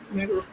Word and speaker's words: rigmarole: Rigmarole.